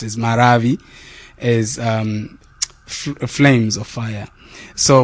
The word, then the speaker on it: Maravi: Maravi is a Chichewa. It is properly pronounced as Maravi, as flames of fire.